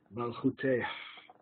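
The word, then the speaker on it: מַלְכוּתֵהּ: Malchuteh, you're supposed to pronounce the hey at the end.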